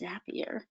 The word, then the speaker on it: Zapier: each other now you can use things like zapier and it is pronounced zapier confer i confirmed this with someone who worked